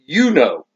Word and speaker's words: U-NO: This is actually pronounced Uno.